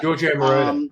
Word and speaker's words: Giorgio Moroder: Giorgio Moroder, yeah. Yeah, thank you. You know how to pronounce it right.